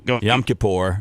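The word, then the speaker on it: Yom Kippur: So I I what I'm saying is like how do you pronounce it? How yam kapor.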